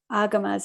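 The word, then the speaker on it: Āgama: fascinated to read about how you've researched the agamas at the correct pronunciation yeah agama um discourses and compared them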